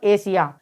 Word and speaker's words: Asia: तो ASIA को हम क्या पढ़ेंगे यहाँ पर? एशिया।